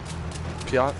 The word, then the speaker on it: PIAT: Piat?